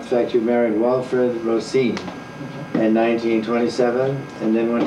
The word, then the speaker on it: Roseen: a man named walfred Rosine right not rine but Ros that's the accent on the second syllable I remember when he